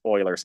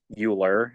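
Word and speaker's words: Euler: Uh so yeah, E is a constant and specifically um E is called yes Oilers's constant. Uh so yeah, it's not pronounced Uler.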